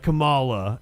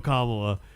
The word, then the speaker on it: Kamala: When Puzzle Bitch and I were riding down here, he said Kamala, and I was like, I was like, you're saying it wrong.